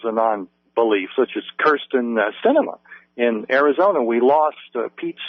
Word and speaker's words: Sinema: But Kirsten Sinema, it's like movie cinema, only spelled with an S, in Arizona, is an avowed non-believer.